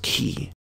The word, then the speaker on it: chi: or making a tea that letter in greek is pronounced key because we can visually